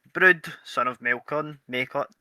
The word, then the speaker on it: Maelchon: Maelchon, we're not starting this. The last... Macon. Just call it Macon. We figured it out. It's Macon. It's Macon. Macon, right, okay, Macon.